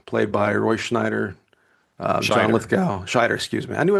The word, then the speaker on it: Lithgow: Lithgow, yeah, sure. That's exactly how you pronounce it.